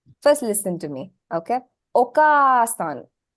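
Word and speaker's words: お母さん: listen to me okay okasan did you hear any sound being elongated once morean yes I'm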